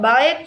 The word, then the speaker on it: ballet: Ballet stress origin stress on the second syllable.